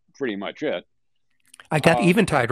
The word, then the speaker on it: Eventide: I got Eventide right. Yeah. Yeah. And thank you. You're welcome. Amazing how many people say Eventide without checking, but it's Eventide. It's a real word.